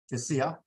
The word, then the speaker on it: Josiah: How do you pronounce it? Josiah.